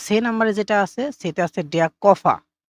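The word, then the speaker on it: Koffer: এরপর নাম্বারে যেটা আছে সেটা আছে কফা। তো এখানে কিন্তু উচ্চারণটা কফা হবে। ঠিক আছে? কফার হবে না।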